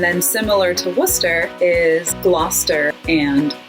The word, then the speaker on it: Gloucester: And then similar to Worcester is Gloucester and Leicester. They both have that CES combination that Worcester does that you kind of just smoosh all together.